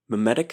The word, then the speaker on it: memetic: Memetic theory is M-E-M-E, meme like gene. Mimetic theory is M-I-M-E, like mime.